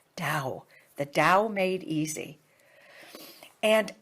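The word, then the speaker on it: Tao: the Dow Made Easy ta AO pronounced da the Dow made easy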